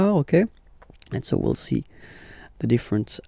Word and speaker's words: as: So, masculine form, he, okay, il, he, elle, she, okay, and then a. So, as you can notice, second form, as, is pronounced a, and this is a, same pronunciation in both cases, okay?